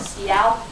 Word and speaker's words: Seoul: Yeah, and Seoul is actually a trick word because you spell it Seoul, like Seoul, but it's actually Seoul.